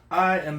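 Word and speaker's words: iʻa: If there's a mark between it, that means there's a separation or a slight pause.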